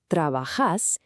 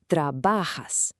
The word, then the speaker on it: trabajas: With a word like this, you put the stress on the second to last syllable. So it's not trabajas, it's trabajas.